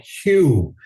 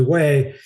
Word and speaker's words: Hue: Of course, we didn't know how to pronounce it, but we're calling it Hugh. Hey, we're going to Hugh. Where the hell's Hugh? I never heard of Hugh. So, heading up to Hugh actually way.